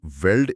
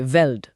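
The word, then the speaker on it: veld: Source बताता है कि वेल्ड एक डच शब्द है जिसका मतलब फील्ड होता है और इसे फेल्ट की तरह प्रोनाउंस करते हैं। Okay वेल्ड।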